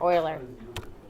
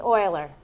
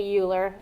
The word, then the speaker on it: Euler: Oiler that's what this word is right here Oiler it's Oiler and I all a lot of you will want to say uler and even later in the future you'll see